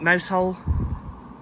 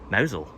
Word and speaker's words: Mousehole: People who don't know will just pronounce it Mousehole. But that's not the Cornish way. We say Mowzel. Let's get to Penlee Point and where the lifeboat used to be, and then we'll head into Mowzel properly.